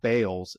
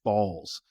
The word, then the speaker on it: Bales: stop telling people this it's not bals it's balls pronounce our name correctly and they made a